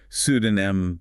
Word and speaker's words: pseudonym: So it sounds like pseudonym, silent P. That's a helpful pattern to remember. It is. The author published under a pseudonym to protect her privacy.